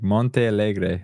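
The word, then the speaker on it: Montealegre: It's like Monte Algre, I think is how you say it.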